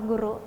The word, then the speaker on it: goero: Di tulisannya goero ya. Ya. Tapi dibacanya tetap sama guru.